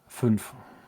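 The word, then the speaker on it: fünf: Funf.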